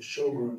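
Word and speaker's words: Sjögren: you look that up it is not spelled s h it's spelled SJ o g r e n shog syr I see some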